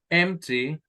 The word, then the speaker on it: empty: or the second syllable that is stressed empty the first the first very good but what about guitars guitars at last the second syllable very good now that's why you have empty on the First Column